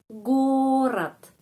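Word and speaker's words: город: gorat gorat terus penekanan di huruf O. Jadi huruf O lebih panjang daripada huruf vokal dalam kata ini yang lain. Gorat.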